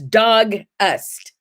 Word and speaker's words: Dogust: no it is not it's dog ust like ust yeah almost like august